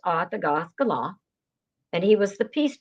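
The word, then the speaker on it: Attakullakulla: It looks like it's pronounced Atakulakula, but Wes has corrected it. It's pronounced Atagaskala.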